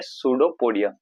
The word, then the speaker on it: pseudopodia: इसको हम बोलते हैं सुडोपोडिया, PSEUDOPODIA, पी साइलेंट।